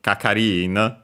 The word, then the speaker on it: kakari-in: But it's person in charge, official attendant, kakari-in, and the accent is on the ri, so before the in itself.